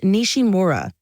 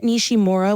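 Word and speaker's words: Nishimura: you pronounce that for us please sure it's pronounced nishima Comet nishim MOA was quite a sight to see it's always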